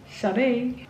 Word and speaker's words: Sade: Had a really great day today with Jasper and Sade, and finally I know how to pronounce her name, Sade.